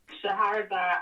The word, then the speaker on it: Shahrazad: It's hard to pronounce her first name. Say her name again. Shahrazad Ali.